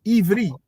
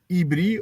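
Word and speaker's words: עברי: So in Hebrew language, we don't say Hebrew. It's Ivri. It's with a V, not with a B. Even if in the Hebrew language, they will pronounce the word Ibri or with a B,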